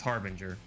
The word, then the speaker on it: harbinger: heard other content creators mispronounce that word by the way it's harbinger that's it pretty simple i think uh who